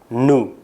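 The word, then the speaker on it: nous: bahasa Perancis Hai new Jadi huruf s tidak diucapkan huruf s di akhir tidak diucapkan pengucapannya adalah nu aya Hai kemudian kata ganti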